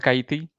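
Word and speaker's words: Kaithi: It's called Kaiti.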